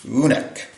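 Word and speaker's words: unnek: So, number 11 is unk.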